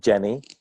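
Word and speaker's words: Dgeni: And so I built this funky little tool called Geni, which is spelled D-G-E-N-I.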